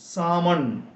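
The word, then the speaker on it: salmon: ആമണ് ഇതുപോലെ മറ്റൊരു വാക്കാണ് എസ് എഎൽ എം ഒ എൻ സാമൺ ഇവിടെ എൽ ഉച്ചരിക്കാൻ പാടില്ല സാമൺ എന്ന് പറഞ്ഞാൽ മതി സാമൺ എന്ന് പറഞ്ഞാൽ ഒരുതരം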